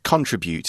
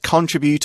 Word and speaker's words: contribute: places yeah they can contribute and we can say that contribute or contribute both pronunciations are fine and it just means